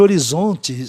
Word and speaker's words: horizon: regras da fonologia inglesa, não acharam nada conveniente horizonte ser pronunciado horizon, tá? E aí deu-se que, excepcionalmente, o I tivesse o som de I aí, horizon, para que você ouvisse melhor a palavra.